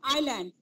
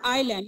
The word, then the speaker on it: island: Iceland, no, island. Bubian, island, yes. I told you, yes is silent in island, yes? So it is island, not Island.